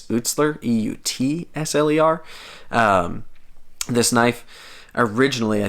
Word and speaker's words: Eutsler: point so yeah this is made by cody utzler i will say again i i was saying his name wrong for a long time i don't know